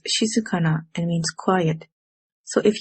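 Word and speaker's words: 静かな: our first vocabulary word this word is pronounced as she sakana it means quiet so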